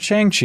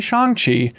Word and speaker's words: Shang-Chi: But I think the big test will be Shang-Chi, not Shang-Chi, apparently Shang-Chi is how it's pronounced, releasing in early September.